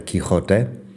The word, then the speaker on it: Quijote: The current spelling is Quixote, Quijote.